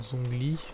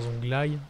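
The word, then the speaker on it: Zhongli: On prend Zongli. Enfin Zonglai, si on prononce pour nos amis les anglais.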